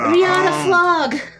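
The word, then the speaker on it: Readah Flagh: It's Riata. Riata Flog. Riata Flog. Yeah, it's spelled R-E-A-D-A-H. Space F-L-A-G-H. It's Celtic. Thorbeck doesn't know letters too good. We'll just go with how it sounds phonetically.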